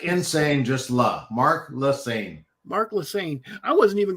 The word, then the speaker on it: Lassagne: professional bass angler Mark and how do you pronounce your last name Mark leaine like insane just La Mark laain Mark leaine I wasn't even going to attempt